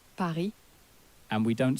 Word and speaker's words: Paris: So we don't say Paris, but we say Paris.